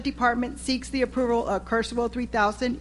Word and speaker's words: Kurzweil: Item 15, consider and take possible action on request to purchase the, how do you pronounce that? Ms. Bazan? Kurzweil. Kurzweil 3000 software program.